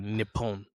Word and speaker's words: Nippon: Yeah, when you're pronouncing words that have the same letter repeatedly, you gotta like slightly pause and drag. Yeah. So like Nippon.